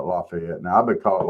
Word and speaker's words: Lafayette: Not. It's laet. No, it's Lafayette. Y'all need to get over yourselves. No, we ain't never calling it Lafayette, man. I'm always gonna call it Lafayette.